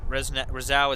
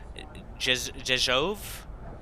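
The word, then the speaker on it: Rzeszów: We're now, Rezau is pronounced Jezhov.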